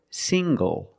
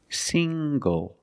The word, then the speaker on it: single: good also this word single single the N makes the nasal sound plus the hard G single single I'm not